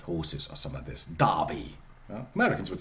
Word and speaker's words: Derby: would say Clark Clark the same is true by the way for Darby Darby the town in the Midlands okay Darby with horses or some of this Darby Americans would say Derby